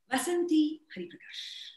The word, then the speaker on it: Vasanthi Hariprakash: So what is the right pronunciation? Vasanthi Hariprakash.